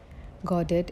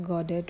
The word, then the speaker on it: Godot: The name Godet is pronounced in Britain and Ireland with the emphasis on the first simile. In the North America, it is actually pronounced and with the emphasis on the second syllable. Beckett himself said the emphasis should be on the first syllable and the North American